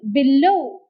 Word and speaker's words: below: at the next example below below as b is a big prefix the second syllable takes the stress look at the third